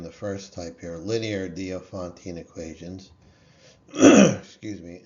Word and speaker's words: Diophantine: Um, so this is pronounced different ways. I've say it dopontine. I've se I've heard it's pronounced diophantine or diopantine.